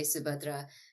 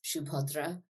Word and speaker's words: Subhadra: better than I can so I call myself subadra because I went to English schools and an American school and that's how white people say my name and it's like what I'm used to responding to Hindi speakers say subadra in Bengali it's shadra because we're very a or or or round sounding people but do you ever